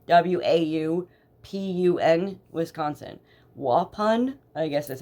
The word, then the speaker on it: Waupun: called the Dodge correctional facility and it's in Waupun w-a-u-p-u-n Wisconsin Waupun I guess that's how you say